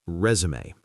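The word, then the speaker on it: résumé: Note that the pronunciation is resume. To resume means to start again like resuming a movie but a resume is the document.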